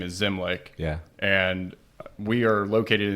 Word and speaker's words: Zimlich: It's spelled differently. Yes. Common question. So our last name is Zimlich.